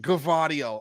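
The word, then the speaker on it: Gvardiol: gets it okay yes pronounce g and V both G and V govario okay nice nice I feel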